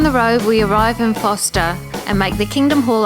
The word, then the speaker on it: Forster: Yes, it is Forster, not Forster, even though it's spelt that way.